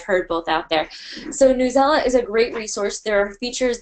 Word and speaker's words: Newsela: their most asked question is it pronounced newsela or news ela and it's newsela so happy to say